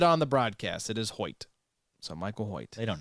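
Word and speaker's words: Hoecht: we will respect you is that how we pronounce the name yes I heard it on the broadcast it is hoit so Michael hoit they don't know though either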